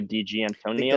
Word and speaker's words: Di Gianantonio: I'm gonna butcher his name so bad, but Fabio Di Gianantonio.